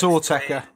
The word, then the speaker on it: Autechre: I can't pronounce the name, I don't care. It is Autechre.